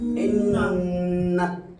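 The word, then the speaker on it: إنّا: এই হলো ইন যোগ নুন জবর না, ইন্না। তাহলে গুন্না মানে নাকের বাসি থেকে উচ্চারিত, গুনগুন আওয়াজে উচ্চারণ করতে হবে শব্দটা, ইন্না। গুন্না এক আলিফ বরাবর ধরে রাখতে হবে, এক আলিফ মানে একটা আঙ্গুল উঠাইতে যতক্ষণ, ইন্না।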